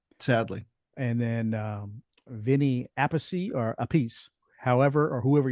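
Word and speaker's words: Appice: I always heard him say Carmine Ace, right? But when they over there talking about Vinnie, they always said Vinnie Apey. I was like, they don't pronounce their name the same way.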